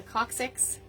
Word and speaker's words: coccyx: The coccyx?